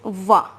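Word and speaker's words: vas: will be which means to go and the pronunciation is va as it is written here so it becomes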